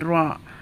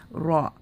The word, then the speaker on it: ر: so we pronounce it ra with fatha, with a line on top, or dhamma, which is looks like number 9 on top on it, should be pronounced with full mouth.